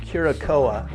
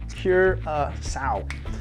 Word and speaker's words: Curaçao: It's not Curacao, it's Curaçao.